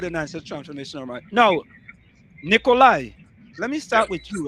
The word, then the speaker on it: Nikoli: Did I pronounce that correctly? It's Nikolai.